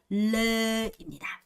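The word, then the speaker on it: lê: 배가 참 배가 참 배가 되게 노래. 레 생각하시면서 배는 노랗죠. 그래서 노래요. 그렇죠? 그래서 배는 노래니까 레라고 생각하시면 됩니다. 뭐라고요? 레입니다. 자, 그 다음 마지막으로 발음이죠.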